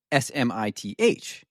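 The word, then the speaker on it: Psmith: at it, it's P S M I T H. So, he'd introduce himself and say, "My name is Smith." Mhm. But to differentiate from other Smiths, the P is silent.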